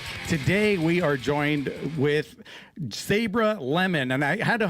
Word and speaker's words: Sabra: It's actually Sabra and it's Hebrew.